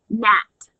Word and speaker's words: gnat: Gnat, gnaw, nod, gnawing, gnash, gnashed, gnashing, gnarl, and gnarled. Remember, GN is pronounced N.